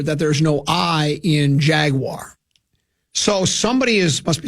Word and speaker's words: Jaguar: So maybe it's in a promo that says Jaguars. It's not Jaguar either. It's Jaguar. That's how it's pronounced. That's the correct pronunciation.